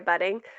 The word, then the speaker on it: Buding: And I'm also on Instagram, which is at Budding. Budding is spelled Buding, not two Ds.